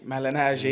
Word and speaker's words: Malignaggi: Like, I actually watched Paulie how do you pronounce Paulie his? Malignaggi.